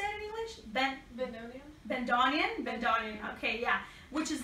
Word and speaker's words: bandoneon: El bandoneon. How do you say it in English? Bandoneon.